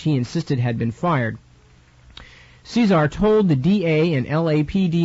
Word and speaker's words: Cesar: shot the guard Fain Eugene Caesar although I've heard people pronounce it Cesar and I'm not sure which but Thane Eugene as